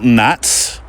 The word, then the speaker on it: gnats: It's the male gnats with a silent G hovering in a group to make it easier for females to find them.